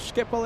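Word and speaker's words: Schiphol: Okay, Dutch plane seeker says you said uh but Skipple is better. Okay, Skipple. Yeah, there you go. I've been saying Skipple, right? The airport in Amsterdam.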